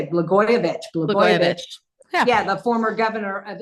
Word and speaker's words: Blagojevich: Blagojevich.